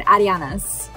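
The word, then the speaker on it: Arianna's: have an s and we did ask him how to pronounce it he said ariana's is how you pronounce it how cool i know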